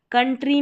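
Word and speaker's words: country: कंट्री में है ओ यू है। इसको अ पढ़ा।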